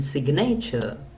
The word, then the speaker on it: signature: an accent like possess G inside must silent be in signature pronounce the G G is pronounced in the word signature here please remember say